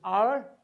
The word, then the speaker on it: hour: H letter, we have hour, we have honor, we have honest, we have honorable. Under all the circumstances, what do we find? We find that this letter here is silent. It is hour, it is honor, it is honest, it is honorable. Under all the circumstances, we find H letter is silent.